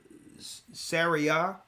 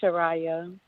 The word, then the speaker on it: Shariah: We have Saria. I hope I'm saying your name correctly. Saria, are you there? Oh, Shalom. It's Shariah. Shariah.